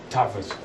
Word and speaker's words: Tattwas: Tattwas. It's a W, but it's pronounced like a V, kind of like in German, how the V's are.